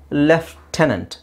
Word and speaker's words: lieutenant: okay all right let's see the next one l i e u t e n a n t yes this is left tenant tenant tenant leftenant left tenant or Americans Lieutenant